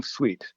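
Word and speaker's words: suite: to call Sweet Home Sweet the first word is spelled sweet like the sugar and last one is sweet s-u-i-t-e as in the collection so that's my current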